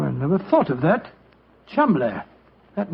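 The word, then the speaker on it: Cholmondeley: Being an American, he had no reason to know that the name Cholmondely is in no way pronounced the way it is spelt. Well, I never thought of that. Cholmondely.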